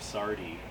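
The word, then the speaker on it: Sardy: When you guys are in the studio this time around, you're working with Dave Sardi. Is it Sardi? I'm pronouncing Yes.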